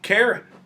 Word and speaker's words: Caron: It is pronounced Caron, right? Yes. Caron, yeah, yes. It is. All right, just checking. Yeah, thank you. No, I appreciate it. Some people do, they go Caron. Caron? Or Caron or something like that.